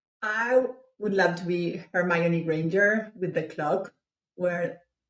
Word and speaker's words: Hermione: Yeah, in the movies they pronounce it Hermione. I think you said it right.